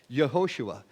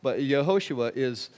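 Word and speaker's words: יהושע: But Yehoshua is sort of how we would pronounce it.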